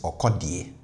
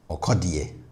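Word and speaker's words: ɔkɔdeɛ: And also his name, Sarkodie, kind of rhymes with okodie.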